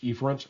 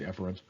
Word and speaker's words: efferent: The opposite is efferent, sometimes pronounced efferent. I'll say efferent.